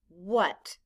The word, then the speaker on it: what: w h a t the letters w h stand for the sound and in this word the letter a stands for the short u sound ah blend with me